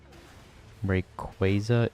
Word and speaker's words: Rayquaza: Rayquaza is correct pronunciation. I say Quaza.